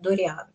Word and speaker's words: Дориан: языка они будут говорить Конечно Дориан но как греческое имя оно звучит как Дориан Вот ещё один сайт